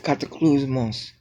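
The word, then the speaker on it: κατακλυσμός: I think that it's cataclysmos, but you go down in your voice at the last syllable.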